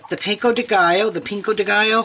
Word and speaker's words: pico de gallo: for yeah the the pico de gallo the pinko de gallo how do you say Jeff pico de gallo okay so the pico de gallo carne asada